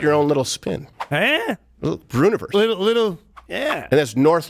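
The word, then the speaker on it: Breuniverse: Brewniverse. It really bothers people. People don't know how to say it. It's just universe, but I put Brew in front of it.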